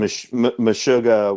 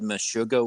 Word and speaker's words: Meshuggah: It's a very clear you know throughine on that genre and that's M mishuga with with Gint.